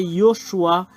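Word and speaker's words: יהושע: explorer la terre et en hébreu c'est Yoshua et c'est ce Yoshua que les gens ont Surer le nom Yoshua Josué qui appelle les gens Yehoshua nous allons le voir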